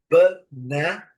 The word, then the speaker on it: banana: Então, é banana, banana, a sílaba forte é a segunda, né? A nossa também. E os 2 As, o primeiro e o último, com som de banana, ok?